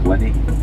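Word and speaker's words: Linnhe: And basically what it is Loch Linney out there is spelled L-I-N-N-H-E, right?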